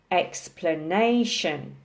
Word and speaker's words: explanation: the next box along has four syllables also with the emphasis on the third syllable explanation explanation okay I think